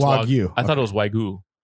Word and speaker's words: Wagyu: It's Wagyu. No, it's Wagyu.